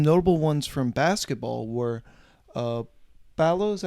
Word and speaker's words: Ballo: Some notable ones from basketball were Ballo, is that how you say his name, from Arizona? Yeah. Omar Ballo.